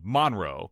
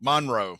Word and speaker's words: Monroe: people in Monroe they would put the emphasis on you know the first syllable Monroe Monroe and I'm like